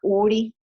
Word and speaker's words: Urry: Por ejemplo, hay un investigador que se llama URI, que se escribe URRY, ¿verdad?